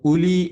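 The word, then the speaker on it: أُولِي: എന്ന് വായിക്കും അതുപോലെ ഇവിടെ ഊലി എന്ന് എഴുതും ഉലി എന്ന് വായിക്കും സത്യത്തിൽ എഴുതും എന്ന് പറഞ്ഞാൽ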